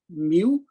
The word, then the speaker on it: mu: these two quantities which is termed as and pronounced as mu and in the denominator it is pronounced as epsilon so eta is given by square root of mu over epsilon so this is true for material